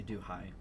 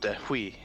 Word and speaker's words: Dewey: I say do hi. It's free form. Do hi 100. One friend of mine who felt like being a jackass said "Dehui."